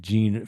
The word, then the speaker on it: Jean: I'm sorry he knows pronounce gene is it like gene like yeah sorry so the you